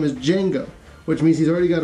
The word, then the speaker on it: Django: the Gathering Storm by Django Wexler the D is silent so this is chapter